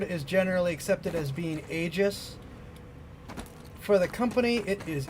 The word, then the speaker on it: Aegis: It seems like most people in the Star Citizen universe actually call them Aegis. You know, like, even if the word is officially pronounced Aegis, the company calls it Aegis.